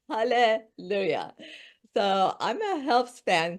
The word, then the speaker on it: Haleh: said my name perfectly Hal I usually say it's pronounced like halah so I'm a health